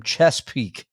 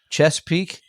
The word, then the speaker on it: Chesapeake: We got one more from Sean, who writes us from Chesapeake. Chesapeake. Chesapeake.